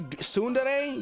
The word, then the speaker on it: tsundere: Stop saying it wrong. Why does that make me angry? Why does Jesus. I mean, I'm glad you agree, but you can't say tsundere. You can't say dere. There's a D in there.